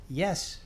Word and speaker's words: IES: silly Americans that that you pronounce IES yes in Italian and in fact in Spanish - I understand and